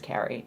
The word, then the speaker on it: Carrie: But I get Kari a surprising amount here in the U.S. Kari Wurr didn't help with that, because that's how she pronounces her name, and she's older than me, so she technically had the name first, but yeah, it's Carrie.